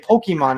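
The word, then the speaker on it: Pokémon: think in america i forgot how to say pokemon is that how you say it yeah yeah the correct pronunciation is pokemon not pokemon so i got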